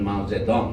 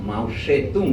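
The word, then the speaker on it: মাও সে তুং: হল সেটার নেতা হলেন মাওজেদং তখন আমরা জানতাম তার নাম মাউসেতুং ছিল এটা হল চীনা ভাষাকে বিদেশের উচ্চারণ করতে গিয়ে যেভাবে লেখে আমরা সেভাবেই অনুসরণ করিতো সেই মাউসেতু যে রাষ্ট্র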